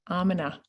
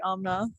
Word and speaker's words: Amna: Hello, Amina. Or is it Amina? It's actually Amna. That's Amna. how I pronounce it.